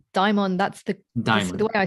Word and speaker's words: daimon: But, I mean, I say daimon. That's the Daimon. way I spell it is the Greek version of the word, the anglicized Greek version.